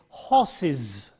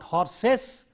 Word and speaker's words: horses: The singular form ends with a s sound, and therefore the plural form is. So we say horses, not horses. It is not s, but horses is. That is the plural form, horses.